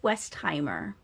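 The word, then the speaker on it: Westheimer: Ruth Westimer.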